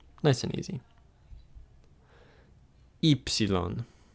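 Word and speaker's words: ύψιλον: Ypsilon. Ypsilon. This is the third and final letter, like ita and iota, that when you see it by itself, it will be pronounced E.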